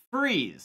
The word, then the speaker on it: Fries: pick some normal ones what about freeze spelled like fries yeah and dumfries just